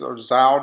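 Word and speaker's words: Zhou: Then you have the Chao, or it's pronounced Zhao Dynasty.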